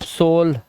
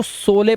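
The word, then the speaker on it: sole: रोप सोल रोज अब पहले मैं भी सोचता था इसको सोले पढ़े सोले सोले लेकिन फिर पता चला लास्ट का ई साइलेंट होता है और दो कंसोनेंट के बीच में ओ आया है लास्ट में ई है तो इसको ओ से पढ़ेंगे तो सोल हो गया ये अब ये सोले नहीं है रोपे होले मोले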